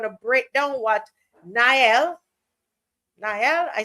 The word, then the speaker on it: Niall: and we're going to break down what Niall Niall, I said it right.